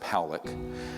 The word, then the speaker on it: Pollack: This man, William Pollack, his name is pronounced Powlick, was a man, very good man, who gave me an interview only to be released posthumously after he died.